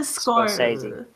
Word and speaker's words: Scorsese: How do you pronounce Martin Scorsese?